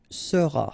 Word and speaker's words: seras: Alright, then tu seras, final S not pronounced, tu seras, il sera,